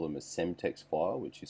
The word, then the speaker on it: Cemtex: Some call them a Semtex file, which is spelled CEMTEX.